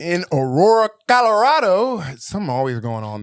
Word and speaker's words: Aurora: You've had to pronounce Aurora. Aurora. I can pronounce Aurora. You can. Oh, yeah. Wait, I forgot what word I said that I up. You said Auroro.